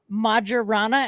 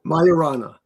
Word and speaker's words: Majorana: show Claim about achieving a major Milestone with majana and I should have figured out how to pronounce this before uh Andy will let us know Mar yeah Mayana Mayana thank you myana based cubits that could